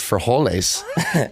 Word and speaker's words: frijoles: He's like, that is beans, and it's pronounced frijoles.